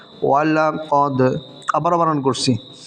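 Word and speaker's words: وَلَقَدْ: ওয়াও জবর ওয়া, লাম জবর লা, ওয়ালা, কফ দাল জবর কদ, ওয়ালাকাদ। আবার বানান করছি, ওয়াও জবর ওয়া, লাম জবর লা, ওয়ালা, কফ দাল জবর কদ, ওয়ালাকাদ রাআহু।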